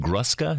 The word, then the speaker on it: Gruska: you you too we've had Barbara and Ethan gruska is that right yes thank you very much